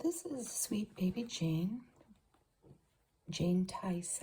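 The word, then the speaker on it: Tise: Jane Tice, I think you say her name. T-I-S-E.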